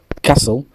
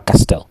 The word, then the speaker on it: castle: Casso ça veut dire un un château. Un château comme une vieille maison. Un château casso. On dit pas castel.